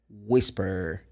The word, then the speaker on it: whisper: So you say whales, whisper, whistle. So that's the sound of the WH. Don't forget, the H is silent.